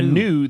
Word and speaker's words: gnu: A gnu, the G is silent, is a large animal with hooves that's found in the southernmost part of Africa.